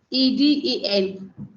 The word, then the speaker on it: Eden: me what's your good name is say leanen e d e n oh Eden Eden okay yes it is oh